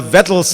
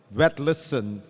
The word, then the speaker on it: Vetlesen: you have not understood the proper norwegian pronunciation which i have from a descendent of mr. whet listen swallow the v make it sound more like a w and and it's wet listen not anyway I'm Fareed Zakaria